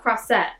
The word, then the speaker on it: Croisette: unhelpful cross that oh so it's like croissant but cross set okay okay okay I